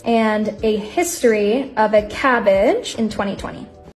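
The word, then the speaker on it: CABG: stable within normal limits everyone pronounces it as cabbage coronary artery bypass graft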